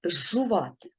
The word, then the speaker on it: зжувати: подовжений с і навпаки шиплячі впливають на попередні свистячі звуки у вимові наприклад зжувати що тут відбувається шиплячий жн впливає на передній свистячий з і у вимові Ми чуємо жжувати на цьому все вивчайте